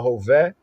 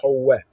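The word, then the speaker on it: הוֶֹה: was, Wahu Howeh, Howeh, some would say, Wahu Hoveh, Hoveh, Hova. Hova means the one who's present, Hova, right? But more correct, ancient, Hebrew pronunciation, Howeh, Howeh, he who be, Yahweh, right?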